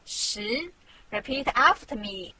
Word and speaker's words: 十: This Chinese character means 10 in English.This is its syllable, 十.